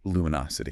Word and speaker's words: luminosity: Or luminous. Stress on LU, but luminosity.